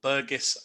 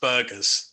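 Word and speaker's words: Birgus: This is potentially my favourite crustacean of all, the coconut crab, or Burgess latro. Actually, I always say Burgess latro to make it sound fancier, but it's pronounced burgers.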